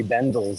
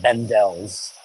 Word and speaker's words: Bendel: located next to hry Bendel on the other side of the street and it's Bendel not bendel's hry Bendle that's how you say it here's the same